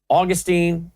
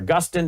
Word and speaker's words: Augustine: you have the massive anti-Semitism of John Calvin Augustine or Augustine depending on how you say it Martin Luther